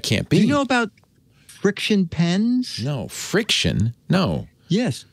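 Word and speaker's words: FriXion: how do you pronounce that name because they spelled with an X she said it's friction oh and it's pens with erasable ink can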